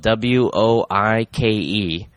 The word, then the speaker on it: Woike: My guest this week, great guest to have about basketball, especially Woike, which is spelled W-O-I-K-E, but I guess it's said like W-O-Y, Woike.